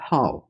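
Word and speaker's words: 号: ये हाउ fourth tone के साथ है, इसको थोड़ा झटके के साथ, थोड़ा गुस्से के पैटर्न में बोला जाता है हाउ।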